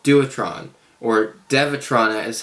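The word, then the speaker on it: Dewetron: it was from a company called duotron or devatrona is how it's pronounced but it's spelled duotron so they took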